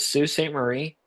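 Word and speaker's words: Sault Ste. Marie: How do you pronounce it? Is it Sue St. Marie?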